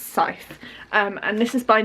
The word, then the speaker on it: Scythe: time has passed so this is the i pronounce it sky because i'm an idiot and i say things how they're written um but it's pronounced scythe um and this is by neil schusterman this